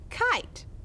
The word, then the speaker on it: kite: That's that magic E. That makes this a vowel consonant E syllable, and that I is going to make its long I sound. Let's decode this one. I, t, and the E doesn't make a sound because it's magic, remember?